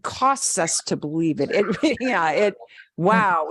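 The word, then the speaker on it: guau: Y wow en español se escribe wow. G-U-A-U. Wow. Wow.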